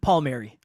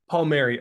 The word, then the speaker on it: Palmieri: young and how do I I'm sure I butchered your last name how do you say it Paul Mary Paul Mary okay so Kevin take us back to a